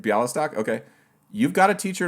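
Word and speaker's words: Białystok: pardon my pronunciations bialystok did i say it wrong i said it wrong that was right bialystok okay you've got a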